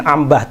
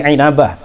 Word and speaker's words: Inabah: Ibnu inabah inabah inabah bahasanya Bacanya jangan Ambah tapi inabah wafat 828 Hijriah dalam